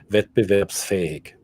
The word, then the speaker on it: Wettbewerbsfähig: Wettbewerbsfähig. Wettbewerb. It's an S, not it's a C sound.